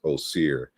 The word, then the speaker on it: Osir: So so there's different pronunciations that we can glean, but I think the Greeks, outside of their own suffix that they added, their own masculine suffix, Osir, is the proper pronunciation.